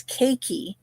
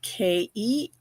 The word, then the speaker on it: keiki: In fact, that's our word for this week, and that word is keiki, and that is spelled Keiki, which means children in Hawaiian.